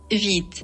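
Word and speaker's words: Vite: react від проект тактак це не White White це білий А це Віт вимовляйте правильно Віт і перше що нам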